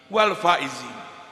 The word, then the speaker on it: wal faizin: Sering mengucapkan minal aidin wal faizin. Pastikan huruf pertamanya adalah dal, minal aidin. Yang kedua adalah zai, wal faizin.